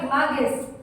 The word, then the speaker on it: image: Terus tadi saya dengar juga images, ya. Jangan baca kayak images itu Indonesia banget, ya. Tapi baca image, ya, image. And then ada saya dengar tadi model, ya, model dari kata mat.